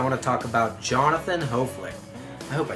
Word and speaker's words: Hoeflich: This week I want to talk about Jonathan Hoeflich. I hope I said his name right. Hoeflich. It's not Hoeflich, it's Hoeflich.